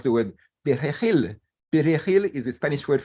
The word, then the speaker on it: perejil: Perejil is a Spanish word for parsley, and it's a very hard word for us Haitians to pronounce because we don't have those two consonants in Kreyòl, the r and the h, you see?